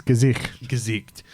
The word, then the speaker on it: Gesicht: It's Gesicht. Look, there's a lot of letters there. I kept calling him Du hast. German for face.